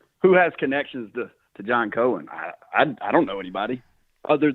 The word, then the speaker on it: Cohen: Cohen. Yeah. Mm-hmm. Cohen.